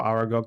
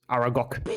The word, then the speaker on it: Aragog: Depending on how Aragog goes. Aragog. I don't know why I pronounced him like that, but yes. It was more like the Hagrid pronunciation of his name.